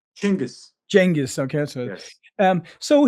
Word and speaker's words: Chinggis: How do you yeah, has what's the proper pronunciation? Chinggis.